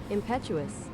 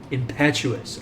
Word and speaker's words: impetuous: but that's the uh here's the United States pronunciation impetuous impetuous okay that's better impetuous impetuous oh I